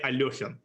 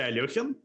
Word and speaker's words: Alekhine: interpretation works, will say Alyokhin. Alyokhin. Yep. But ALEKHINE himself apparently pronounced his name ALEKHINE, not a Y-O, but an E sound. So most Russians will say Alyokhin, but apparently he himself pronounced it differently.